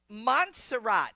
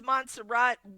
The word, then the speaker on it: Montserrat: Okay Joni, Montserrat, am I saying that right?